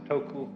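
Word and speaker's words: 德: this word dir uh the Japanese pronounce it toku the Cantonese duck and the northern mandarins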